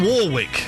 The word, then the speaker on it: Warwick: It's Dion Warwick. You pronounce the second R. It's It's a It's not an invisible R.